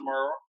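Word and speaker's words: Murrah: way the first time they understand is pronounced Muro Muro High School in Jackson Mississippi first of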